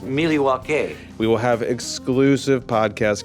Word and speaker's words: Milwaukee: National Convention in Milwaukee Wisconsin folks actually it's pronounced milwa we will have exclusive podcast coverage social media